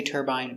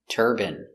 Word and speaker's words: turbine: Some people in America say turbine, but it's more common in America to say turban. Example, these are wind turbines. They create electricity from the wind. Pronunciation, turban. Turb, turb, turbid, turban, turban. Wind turbines generate electricity.